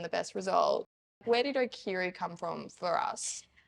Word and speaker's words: Okaeri: Where did Okaeri come from for us? The proper pronunciation is obviously Okaeri, but we've also given people that option if they can't say it, Okaeri, like Hey Siri.